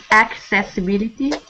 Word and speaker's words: accessibility: okay math good accessibility accessibility with a k sound accessibility good stumbling stop stumbled